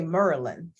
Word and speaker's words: Maryland: to say it right you have to say merland merland there you go merland so you guys